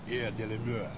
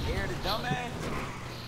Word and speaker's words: Air de la Mer: You gotta say it like that, like you French. Air de la Mer. Oh, yeah. Not Air the Dumbass.